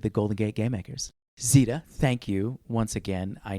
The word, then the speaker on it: Zeta: we started this podcast, you asked me how to pronounce my name, Zeta. So, when I was making my art Instagram, I did zetas.art, cuz, you know, z does.art.